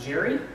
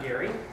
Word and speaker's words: Gery: So, just to clarify a couple of things, my name is pronounced Gery, not Gary.